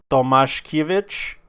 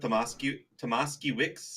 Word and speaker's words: Tomaszkiewicz: I would go with Tomaszkiewicz. No, their S's. Their S's are SH. There's no Vitch in there. W's are pronounced with the V.